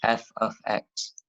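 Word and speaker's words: f(x): are we here this notation over here you pronounce it as f of X okay so let's look at our basically our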